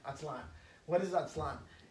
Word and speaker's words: Aztlán: beware atlan very important aztl accent on the a-n atlan what is that slime